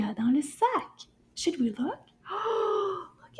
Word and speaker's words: sac: Sac is also a word with the a sound.